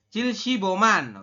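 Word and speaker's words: 칠십오만: bintang pemenggalan pemenggalan ini dibacanya adalah man ya kita Bacanya adalah man seperti jadi cilsiboman Oke cilsiboman setelah itu Anda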